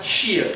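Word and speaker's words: Hsia: Se escreve assim, H-S-I-A, porém na pronúncia sai Xia.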